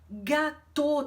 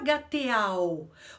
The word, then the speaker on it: gâteau: E o gâteau, gâteau, termina com AU. Mas a gente não fala gâteau, porque o AU em francês tem som de O.